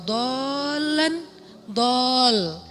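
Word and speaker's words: ضَالًّا: Alam yajidaka yatiman fa'awa wa wajadaka dhallan dol. Kenapa dol itu kayak panjang bacanya? Karena sesat jauh gitu kan ya.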